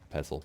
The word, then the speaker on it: pestle: gasoline-powered mortar and pestle pestle i think the tea is silent this the power recycler